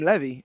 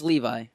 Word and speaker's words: Levi: I've been calling him levy is Italy it's Levi okay Zachary Levi yeah okay well yeah